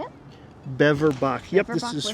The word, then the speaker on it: Beverbach: Beverbach.